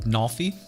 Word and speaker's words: Nalfy: keys what's up joe it's pronounced nalfy i can't read i thought i thought i saw an eye thank you i'm sorry